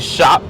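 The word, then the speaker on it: Shoup: tuning it's not super I always said shoot there's actually shop you spell it Sh OUP shoot sounds better in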